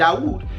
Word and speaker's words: Dawood: Now keep in mind, Dawood, that's the way the Moroccans pronounce David, the Ephraimite, the Ephrati, Dawood.